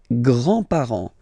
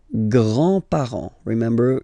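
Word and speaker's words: grands-parents: with the the grandparents le grandpar le grandpar you don't pronounce this final s here grandpar Okay.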